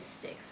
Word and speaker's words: Styx: It is Styx, I've checked on, that's the pronunciation.